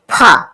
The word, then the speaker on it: ফ: ধা দন্তন দন্তনা পা ফা পা ফা ফা উচ্চারণ অনেকে ফা উচ্চারণ করে না উচ্চারণ করতে হবে ফ এভাবে ফ দুটো ঠোট লাগিয়ে ফা প ফ অন্তস্থ